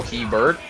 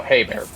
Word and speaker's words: Hebert: not gonna match Kyle Hebert as were you there it's pronounced Kyle hey bear okay Bears Discord server